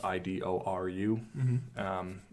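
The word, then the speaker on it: Idoru: called I do Rou which is how the Japanese would pronounce Idol it says I do ru and it's all about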